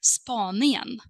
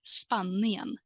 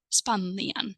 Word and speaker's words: Spanien: So according to this rule, Spain should be also pronounced as Spanien, but it is not pronounced that way. So what you have to do here is basically to memorize, right? It's a little bit of exception, and we say Spanien, Spanien.